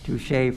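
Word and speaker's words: touché: Street bastro Inc DBA as the touch pronunciation touche sorry touche yes uh FR I took Spanish in high school touche French Creo at 6 North River Street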